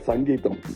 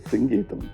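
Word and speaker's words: Singeetham: In Konamag there was always a confusion how to pronounce his name. He used to get very upset because said Mr. Sangeam no it is singam please.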